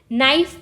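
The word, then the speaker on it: knife: एंड नो ठीक है अब हम जब नी बोल रहे हैं तो हम के की आवाज नहीं बोल रहे नाइफ बोल रहे हैं तो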